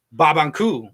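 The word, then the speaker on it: Barbancourt: Now, this is a Haitian rum, and it's actually pronounced... Babankou. Babankou. Is how you would actually pronounce it. That's actually how you would pronounce it. In Haitian. So it's a language thing. Like it's obviously the R's are completely silent in barbencourt.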